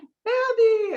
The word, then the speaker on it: Fabi: it's like, Gabby, and she's like, Fabi. It makes it really easy to remember my name, which is hard to remember. Rhymes with Gabby.